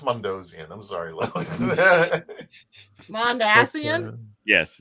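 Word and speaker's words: Mondasian: I'm from Florida it's mondian I'm sorry mondian yes it's mondian pronunciation the emphasis is on the ass yeah that's why I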